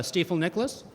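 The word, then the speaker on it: Stifel Nicolaus: as an analyst uh uh currently with uh steifel Nicholas did I say it right you did I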